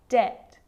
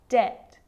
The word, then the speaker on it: debt: So see, in all of those examples, my lips aren't closing and coming together to form the B sound. I'm just pronouncing the T. Subtle, debt, and doubt.